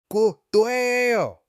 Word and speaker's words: cuello: Q A yo cuello.